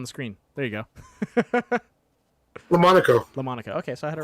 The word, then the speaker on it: LaMonaco: LaMonaco.